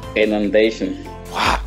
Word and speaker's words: inundation: Et attention pour l'accent. Inundation. Non, ça c'est, première syllabe là, c'est IN. Donc, I là pas pour compte. Le suivant dit inon. Ok? Comment on va dire? Inundation. Voilà, ça c'est 10 sur 10.